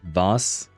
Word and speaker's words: was: It's not was a like in English, pronounced more like vas.